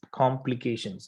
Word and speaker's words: complications: Try to provide stress on P. Okay, it should be complications.